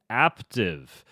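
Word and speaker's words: Aaptiv: to tell you about active active is an app it's an app that rhymes with active see what they did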